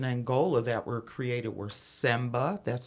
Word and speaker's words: semba: basic rhythms in angola that were created were semba that's spelled s-e-m-b-a zomba k-i-z-o-m-b-a and caduro k-u-d-u the